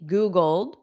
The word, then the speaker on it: Googled: So that Googled, the ED is just a soft D. Googled. Exactly. Very good, everyone. Now, when I connect it to it sounds like dit. Dit. Googled it.